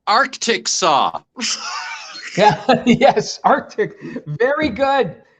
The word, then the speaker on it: Arkansas: that's right tom by the way tom it's pronounced arctic saw yeah yes arctic very good very good uh